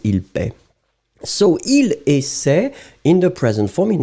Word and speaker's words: essaie: And in fact, you will pronounce it il essaie. Normally, you don't pronounce essaye.